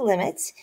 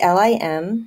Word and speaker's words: lim: We just write L-I-M, but we still pronounce it limit. We never say lim.